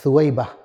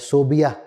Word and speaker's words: ثویبہ: ایک کنیز ہے ثویبہ، ثا، واو، یا، با اور ہا، یہ صحیح سپیلنگ ہے ثویبہ۔ ہمارے ہاں اسے غلط سپیلنگ کی جاتی ہے، صوبیہ لکھا اور پڑھا جاتا ہے، یہ غلط ہے۔ ثویبہ نام ہے، کنیز